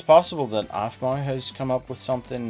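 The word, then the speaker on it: Aphmau: Yeah, Afmau. But it's spelled APH.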